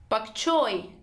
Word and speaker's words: bok choy: 11 is but choi bok choy stresses on choi bok choi bok choy tree American but Pak